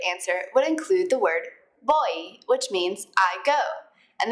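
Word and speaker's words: voy: bit on the pronunciation in Spanish v's and B's sounds a lot alike and they're pretty much just a mixture of the two letters boy repeat they boy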